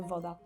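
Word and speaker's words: woda: For the W, they would just pronounce it as like a V if it was in English, but yeah, it sounds the same.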